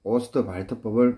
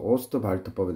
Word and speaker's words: Ostwald: 독일어 쪽에서는 D가 T 발음 납니다. 그래서 오스트발트법에 대해서 얘기할 텐데 HNO3 제조법에는 이것도 사지선다로 낼 수 있죠.